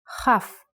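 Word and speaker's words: כ: Chaf. A good example is the word kochav, kochav, which means a star. K, O, Cha, V, kochav. And in print version, kochav. Be careful though, the letter chaf takes a different shape when it is written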